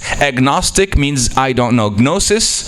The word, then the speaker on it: gnosis: means I don't know gnosis gnosis means to know in Greek that's why we have K that we don't pronounce in English cuz we got it from Greek the G gnosis so g means to